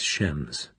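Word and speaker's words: James: his voice was sarcastic shems Bond he pronounced it shems and nobody myself included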